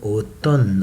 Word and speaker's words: automne: I say automne, I don't say letter M, l'automne, l'hiver, le printemps, l'été, l'automne.